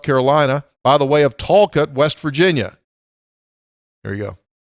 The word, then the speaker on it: Talcott: Not in Hinton, Talcott. Pronounced Talcott. And it's one word. Say it fast.